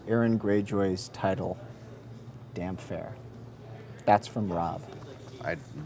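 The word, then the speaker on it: Damphair: Aaron gray Jays title damn fair that's from Rob I'd damp air dam hair yes I should have put a hyphen in between this is because he's all wet okay that makes a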